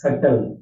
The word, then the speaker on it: subtle: The first and foremost thing, let me tell you is subtle, S-U-B-T-L. Here, the word B is silent and the meaning of this word is called hidden.